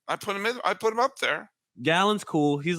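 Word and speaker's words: Gallen: did it wrong again is it gallon yeah gallon you always say gayly who the hell follows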